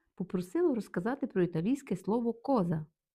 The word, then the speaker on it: cosa: І перше слово у нас коза. Наголос на о. Коза означає річ, предмет.